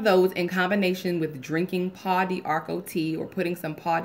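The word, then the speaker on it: Pau d'Arco: But that either one of those in combination with drinking Paw d'Arco tea or putting some Paw d'Arco in your tub. It's spelled P-A-U-D''ARCO.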